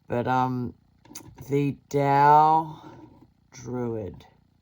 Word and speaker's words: Tao: Then I stumbled upon this amazing Tao Druidry. Spelled with a T, but it's pronounced D.